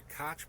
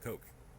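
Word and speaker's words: Koch: kids majesties my lords the cotch Brothers have been driving a wedge between the CIA and the FBI since before JFK or you know Heretics like them it's actually pronounced Coke or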